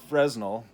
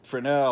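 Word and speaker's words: Fresnel: to some theories of Fresno I'll say Fresno instead of Frenel or or the correct pronunciation of in French of his French name um Frenel or or Fresno that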